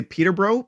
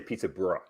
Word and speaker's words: Peterborough: how would i say peterborough peterborough oh okay so i would say peterborough naturally and just squish it i i was under